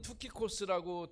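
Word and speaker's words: Τυχικός: 그 헬라어는 투키코스라고 되어 있는데 티키쿠스.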